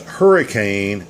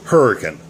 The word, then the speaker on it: Hurricane: grid map by the way this is not pronounced hurricane it's pronounced hurricane so if you're in that area say it